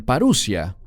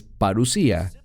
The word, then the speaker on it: parusía: es la palabra parusía algunos la pronuncian parussia pero es parusía simplemente es una palabra